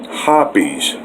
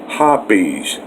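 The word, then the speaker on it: Hoppe's: well over 40 years and yes it's officially pronounced hoppies hoppies and i haven't found anything better now it's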